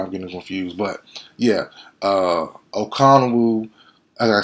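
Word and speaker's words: Okonkwo: That's the it's Okonwu. I'm tripping. Who's Ronco is a pass rusher from Oklahoma a couple years ago. Yeah, Okonwu. Chidu. Can we say his name? Chigoziem Okonwu.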